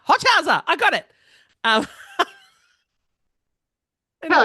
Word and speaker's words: Hochhauser: It's Hochhauser. Hochhauser.